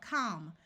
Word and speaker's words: calm: sound of a and the L will be silent here we have calm we can add a